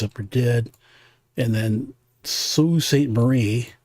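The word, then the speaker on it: Sault Ste. Marie: And then Sue St. Marie, it's spelled Salt, but it's actually you pronounce it Sue St. Marie.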